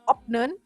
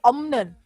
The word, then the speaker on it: 없는: Kemudian adalah opnen, itu bacanya bukan opnen, tapi omnen. Jadi kalau opsoyo itu kan